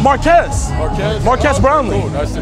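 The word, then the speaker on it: Marques: Marquez.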